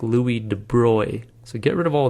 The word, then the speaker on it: de Broglie: louis de bruy now it looks like you pronounce this louis de broglie and that's what i always said i always read this and i said de broglie in my mind and i knew that wasn't right if you look it up